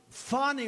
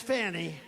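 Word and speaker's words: Fani: it's now even though it's I believe it's spelled f a ni I to my way of thinking that's Fanny but when she became the district attorney I think she put a little emphasis on the U fny so corrupt fonnie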